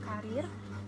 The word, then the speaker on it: karier: Karir, ya, jadi penulisannya karier ya, dibacanya tetap karir, dan tidak bakunya karir.